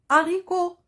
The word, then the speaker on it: haricots: allez oui c'est bien le mot haricots haricots 1 h aspiré si vous vous rappelez